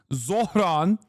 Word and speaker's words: Zohran: Bernie pronounced it better than you. Yes, I know it's Zohran Kwame Mamdani.